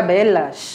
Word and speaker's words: velas: ninas n escrita porém às vezes muda um pouquinho o a pronúncia né su exatamente como é o caso de velas que fica belas exatamente e tem palavras